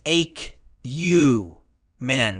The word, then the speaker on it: acumen: noun it's pronounced as a you men with the stress on the first syllable meaning acumin refers to